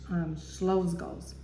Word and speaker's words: Czolgosz: I think that's how you pronounce it, Czolgosz. I'll find out next time, but I think that's how you, it's a Polish name.